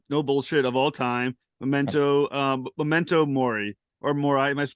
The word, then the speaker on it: Memento Mori: Star Trek episodes, no bullshit, of all time, Memento Mori, or Mori. Am I pronouncing it correctly? Mori, yeah, Memento Mori.